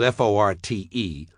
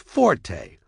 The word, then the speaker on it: forte: used in music notation is pronounced forte and it instructs the musician to play loud. She plays the skin flute and her fort is playing forte. Look it up if you don't believe me. And don't give me that whiny Forte is listed as the second preference. There's a reason it's second because it's not first.